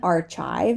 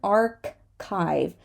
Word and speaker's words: archive: is chaos chaos chaos this is not an archive as some people like to say this is an archive archive archive here we're not going